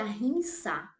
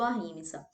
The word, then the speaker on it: ahimsa: E aí, quando a gente pensa em ahimsa, em não violência, na verdade a pronúncia eu acredito que é ahimsa. Aí, brasileiro, né, a gente acaba falando ahimsa.